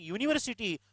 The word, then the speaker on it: university: But same U is there while saying university, pronunciation never come with a. University, university, university, U means Y-O-U-L-Y.